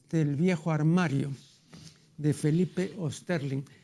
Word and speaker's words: Osterling: Páginas del viejo armario de Felipe Osterling. Yo, al pronunciar el apellido, me acomodo al uso imperante aquí en el Perú, ¿no? Pero en realidad es Osterling, ¿no?